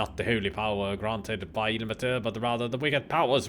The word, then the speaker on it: Ilmater: Ilmater. I just say Ilmater because it's Ilma, which is air in Finnish. So that's why I say Ilmater. Ilmatar.